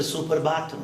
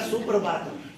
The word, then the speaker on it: Suprabhatam: some from the West they don't know how to pronounce suprabhatam they'll say super bottom not suprabhatam it is the composer